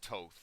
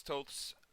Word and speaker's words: Toth: the past um mr alex toth or alex toss however you like to pronounce it i believe it's alex toth uh is one of